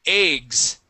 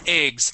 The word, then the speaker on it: eggs: Okay, so dozen eggs. Now, with the word eggs, there's two pronunciations, all right? So, there are some people that say eggs, and they pronounce that with a short E sound.